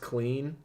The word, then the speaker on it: CLN: you certainly can so it's called cln it's pronounced clean so clean body wash